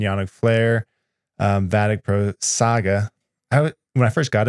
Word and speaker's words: Saga: flare um vatic Pro Saga I when I first got it I SKT saying Sega is it Sega or saga Saga it's Saga I've been saying it wrong uh and then there's